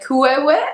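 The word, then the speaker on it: queue: I've heard qu I've heard qu. But really, we just say Q, one syllable.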